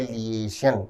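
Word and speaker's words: liaison: शब्द का उच्चारण है लिशन। विद्यार्थी ध्यान देंशन। लिशन का अर्थ है लोगों से लिंक या फिर संपर्क। सो लिंक या कोलैबोरेशन। स्पेलिंग है एल आई ए आई एस ओ एन।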